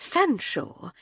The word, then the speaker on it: Fanshawe: Well, it's Hardcastle now, but at Girton you'd have known me as Fanshawe. You used to tease me about it. Why on earth is it spelled like that if you pronounce it Fanshawe?"